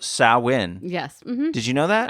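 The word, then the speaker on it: Samhain: it comes from a tradition in Ireland that is spelled Sam Hayne but it's actually pronounced sawin yesh did you know that I did well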